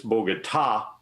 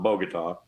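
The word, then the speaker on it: Bogotá: Pompeo needs to know is it's bogota accent on the last syllable not bogota the second thing he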